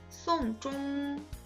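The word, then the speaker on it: 送钟: 송종, 장례를 치르다 라는 문장과 송종, 괴종시계를 주다 라는 문장이 한자 다르죠? 한자 다르고 의미도 다르지만 발음이 똑같아요.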